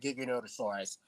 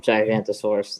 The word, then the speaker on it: Giganotosaurus: like me call it Giganotosaurus. I rather prefer the name Giganotosaurus, Yeah, it doesn't just for the matter. fun of it. It's not called Gigantosaurus, though. That's not even how it's spelled.